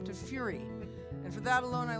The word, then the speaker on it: Fure: He goes, "You're a furry, aren't you?" Now you have to understand, most of my relatives pronounce the name Furry. It's actually Fure, which means furrow in Norwegian.